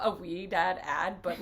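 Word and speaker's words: Ouidad: really so um i actually started using um we dad it's literally the best product ever it's spelled like o-u-i-d-a-d honestly this is not a wee dad ad but like get it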